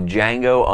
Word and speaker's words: Django: 2013 epic geek out the only show on the internet where the D is silent I'm your host Chad I'm your host Rob and today we're going to be giving our review of Django Unchained as always you